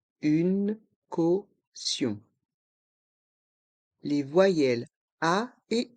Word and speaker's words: caution: Une caution. Une caution. Les voyelles A et U se prononcent O. Caution. Le T de caution se prononce SE quand il est suivi de ION.